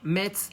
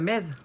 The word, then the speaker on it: Metz: Le T dans Metz ne se prononce pas, Will. Donc, ça fait quoi, Metz?